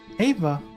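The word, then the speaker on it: Éabha: hey yeah okay i'm i'm double checking it i'm just going to listen to this ava ava yeah ava so if anyone listening the way it's i'm looking at it it's spelled um uh e a b h a ava okay interesting interesting way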